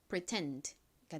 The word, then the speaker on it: pretend: D는 소리 나서 pretend가 됩니다. pretend 뒷부분을 강조해서 발음해 주셔야 되죠.